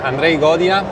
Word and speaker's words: Andrej Godina: Piccola introduzione, Andrei Godina, ho pronunciato giusto?